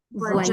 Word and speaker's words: voyage: Voyage. Voyage. Bien, ¿sí? Justo te tocaron ahí con los sonidos que son bien fuertes. V. Voyage. ¿Sí? Y se va la E final.